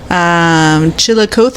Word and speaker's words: Chillicothe: Chillicothe? I don't know. It's Chillicothe.